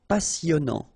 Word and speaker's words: passionnant: Passionnant. Okay, here you pronounce the double S because you've got a vowel, so it's really a strong one. Passionnant. Final T not pronounced. And then here you get this en sound.